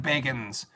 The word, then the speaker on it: Bagans: Ghost Adventures with Zach Bagans. No, it's Zach Baggins. Zach Baggins or Zach Bagans? Well, it's spelled Baggins, like Frodo Baggins, but he pronounces it Bagans.